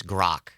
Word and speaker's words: Grok: Um did we find a pronunciation for grok yet? Sam, we're working on this. Uh from everything I'm seeing, it's grok.